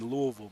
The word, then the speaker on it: Louisville: Some people get Louisville messed up. They say Louisville. Louisville. Yeah, or like Louisville. Yeah, Louisville. You got to say it right.